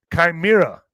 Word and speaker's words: chimera: Chimera, I think is chimera is how you say it. Is it chimera? YES. HEY, YO. ALL RIGHT. Chimera is pronounced just like the I in bike.